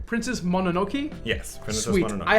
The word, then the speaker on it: Mononoke: Princess Mononoke. Yes, Princess Sweet. Mononoke. I haven't been able to pronounce it this whole time.